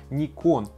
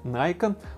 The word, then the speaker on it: Nikon: Кстати, по-японски название компании правильно произносится как Nikon. На Западе говорят Nikon, ну а в России мы привыкли к собственному варианту произношения Nikon.